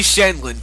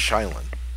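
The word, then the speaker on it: Sheindlin: The Honorable Judge Judy Shenlin presiding. Fuck! I think you got the last name wrong, but who cares? That's how you say it. I think it's Shylin.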